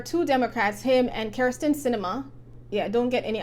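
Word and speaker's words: Sinema: democrats him and kirsten cinema yeah i don't get any ideas her name is cinema it's spelled with with the s they are not in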